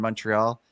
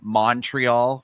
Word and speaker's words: Montreal: call-in segment uh in Montreal and they all the English people were saying Montreal, which is how Americans say it instead of Montreal or Moral.